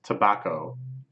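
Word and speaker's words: 煙草: is quite interesting so this is pronounced tobacco but neither of these kanji are typically pronounced either like table or backhoe or Co or whatever they just decide that these two kanji which means smoke and grass would be pronounced tobacco so sure I guess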